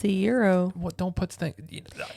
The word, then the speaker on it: gyro: it said it's a Euro it's a Euro but it has a g in there no but you don't pronounce the G it's a Euro well don't put thing